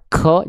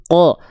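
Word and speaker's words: ق: Jadi kalau teman-teman melafalkan qof di sini masih keluar percikan-percikan nafas ya. K jangan ya. Tapi ko. Kalau masih keluar percikan nafas berarti kurang dalam. Terlalu keluar, terlalu ke depan. K enggak. Lebih dalam lagi. Ko qo paham?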